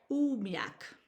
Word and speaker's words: umiak: Yumiak is pronounced umak.